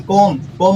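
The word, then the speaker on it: comb: कोम माने कंघे को कहते हैं, कोम, सिर में कंघा करने वाला। लास्ट में क्या है? एम के बाद क्या है? एम के बाद बी है, तो ये क्या हो जाएगा? कोम हो जाएगा।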